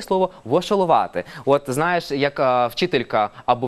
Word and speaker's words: вошоловати: Вошолувати, наголос на літеру А.